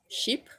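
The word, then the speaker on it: Chypre: french speaker so but if you pronounce it properly i pretty sure it's sheep sheep sandals so it's almost like saying it's almost like saying sheep but like not really it's like sheep sheep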